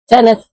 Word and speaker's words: Senedd: His Senedd.